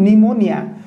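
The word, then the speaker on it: pneumonia: ठीक अछि एन अगर पी जदि थिबो ता पी परे एन थिबो ताले पी को पढिबा नै आकु पढिया गण निमोनिया एहि बोली भाब रे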